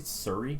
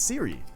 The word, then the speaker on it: Siri: How do you pronounce Siri? Did you just say Surrey? Oh my fucking god! Here we go. It's Siri. It is Siri.